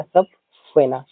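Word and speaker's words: subpoena: सब फेना प्रोनाउंस होगा सब फेना।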